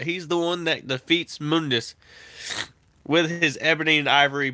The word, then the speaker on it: Mundus: And then there's Mundus, or Mundus, however you want to pronounce it. It's pronounced as Mundus in the game.